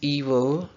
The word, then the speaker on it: evil: And evil. Evil. इसमें आई श्वा है. Evil.